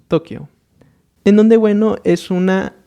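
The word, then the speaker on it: 東京: En este caso es la forma como se dice en Japón, Tokio. Pero bueno, nosotros comúnmente simplemente lo llamamos Tokio.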